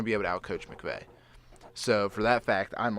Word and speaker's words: McVay: to be able to outcoach how do you pronounce his name? McNaghy or something? No. Who? L.A.? Yeah, who's Sean McVay?